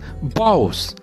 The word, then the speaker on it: boughs: Next word is bows. B-O-U-G-H-S. Bows means mukh tahaniya or strong branches of tree. Here G and H are silent letters.